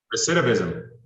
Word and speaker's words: recidivism: Recidivism. Recidivism. How do you say it? Recidivism.